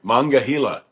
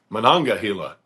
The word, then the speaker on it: Monongahela: The Allegheny, Ohio, and Monongahela. No, Monongahela. Shoot. I don't know how to say it. Monongahela.